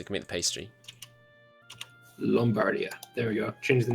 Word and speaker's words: Lombardia: that's pretty good also lombardia is pronounced with an O it produces wheat as well so it can make the pastry lombardia there we go change